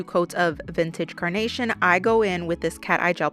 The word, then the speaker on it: Goi: After I finish applying 2 coats of Vintage Carnation, I go in with this cat eye gel polish right here. This gel polish is by Goi. Yes, that is how you say their name.